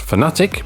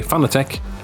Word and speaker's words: Fanatec: for motorsport fans and yes it's pronounced fanatic but you're officially allowed from the ceo to say fanatec and it's perfectly fine